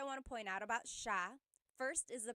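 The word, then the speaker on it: siya: to point out about sha first is the pronunciation it looks like it should be pronounced but it's actually pronounced sha sha so the s i y it's a sha sound sha And then another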